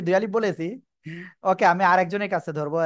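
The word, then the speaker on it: ب: এহসান কিন্তু বলতেছে না দুই ঠোঁটের ভিজা অংশ থেকে বা হরফটি উচ্চারিত হয় ওকে যাই হোক আসলে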